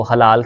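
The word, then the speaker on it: حلال: तो हलाल की जो सही प्रोनाउंसिएशन होती है, तलफ़ुज़ होता है, वो हा के ऊपर जो है ना वो ज़बर है और लाम के ऊपर भी ज़बर है।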